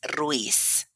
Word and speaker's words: Ruiz: Um, not really, but the actual pronunciation is Ruiz. Ruiz.